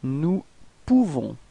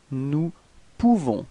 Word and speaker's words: nous pouvons: Nous pouvons. Okay, so you write this O-U and you pronounce it OU. Okay, so if you combine it, you nous pouvons. Okay, you don't pronounce the final S.